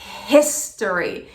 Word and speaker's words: history: se conectam com gestores Mas lembra só quando a gente for pronunciar essa palavra aquele som do H ele faz um Então você tem que fazer restore e o resto é a tônica por isso que a gente faz restore e não torre consegue